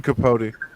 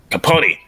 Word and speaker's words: Capote: Truman Capote. Capote in Cold Blood.